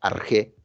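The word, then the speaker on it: ἀρχή: una palabra en griego llamada arge así se pronuncia arge significa de la traducción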